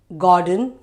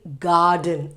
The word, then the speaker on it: garden: again we misspell actually we say gordon father we say ah kind of sound where it should be r sound it should be garden and are silent ga den garden father okay father but we